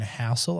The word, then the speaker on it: Housel: So for everyone who hasn't caught up, we're talking about Morgan Housel. I think that's how you say it. Is that right, Marty? Correct. Housel, there you go.